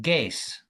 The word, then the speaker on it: guess: Is is a is a silent letter because when we pronounce this word, we say G S.